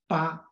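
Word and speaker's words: 父: originally pronounced as ah the character Foo in old Chinese should pronounced as PA when there's two rules are applied in the pronunciation of Foo therefore we can understand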